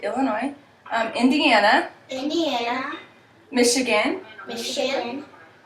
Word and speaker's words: Illinois: Minnesota Minnesota Wisconsin Wisconsin Illinois Illinois there's actually a silent s on and some people pronounce it but some people say Illinois um Indiana Indiana Michigan